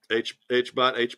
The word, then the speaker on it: HBOT: how did you find out about hyperbaric oxygen therapy, otherwise known as HBOT? Is that how you say it? HBOT, HBOT, correct.